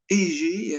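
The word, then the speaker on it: Aegae: Ça s'écrit A-E-G-A-E, Égée, hein, un port de Cilicie où il fut initié et s'intéressa de près aux doctrines de Pythagore.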